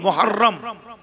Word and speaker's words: মুহররম: শাহরুল্লাহিল মুহররম, আমরা বলি মহরম, মহরম নয়, উচ্চারণ হলো মুহররম।